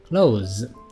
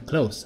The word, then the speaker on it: close: 看到第十六个 close 这个 z 是有发音的 z，关上，关